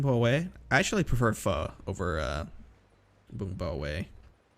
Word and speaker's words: pho: only know far and most people don't even pronounce it correctly it's crazy you want to get some pho dude I love foe I'm so cultured it's Vietnamese have you heard